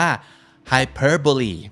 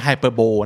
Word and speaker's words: hyperbole: ภาษา อังกฤษ เรียก ว่า คำ นี้ อ่าน ว่า ใคร เพ้อ berry ไม่ ใช่ hyperbole นะ ครับ ให้ Perry